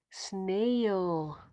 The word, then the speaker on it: snail: special sound is mm-hmm and here we have two vowels together when two vowels go walking the first one does the talking so this one is silent and this one is long a snail snail now here the